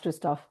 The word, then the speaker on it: Christoph: I hope I have pronounced your name correctly. Christoph.